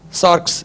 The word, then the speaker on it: sarx: அடுத்து இந்த new testament Greek word is சார்க்ஸ்.